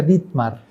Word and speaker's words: Ditmar: la invitación ditmar libros mi nombre se pronuncia ditmar y a propósito de